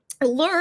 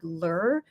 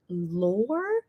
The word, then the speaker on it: lure: and by the way lur is actually pronounced like cure I mean thank you